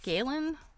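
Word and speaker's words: Gallen: um university is St galin um I think I'm pronouncing that right it's it's spelled g a l l n but I think that's galin um this book was written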